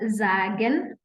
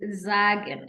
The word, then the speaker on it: sagen: Then now we're saying that when S is followed by a vowel, then we pronounce it as Z.